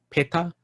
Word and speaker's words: peta: hungry ghost hungry ghost in pali is called peta p-e-t-a i think we covered that last week